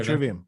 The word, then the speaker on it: Trivium: Oh, Trivium.